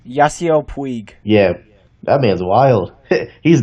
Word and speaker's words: Yasiel Puig: Yasi Pug. How do you say his last name? Yasiel Puig.